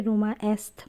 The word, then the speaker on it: Roma Est: But Italian ভাষায় একে রোমা এসথ বলা হয় উচ্চারণ অনুযায়ী।